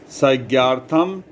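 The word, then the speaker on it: संज्ञार्थम्: यहां हमने फिर बता रहा हूं कि जो ये अक्षर आ जैसा लग रहा है। इसका उच्चारण आई है। संज्ञ्यार्थम इसका इसका व्याख्या देखिए।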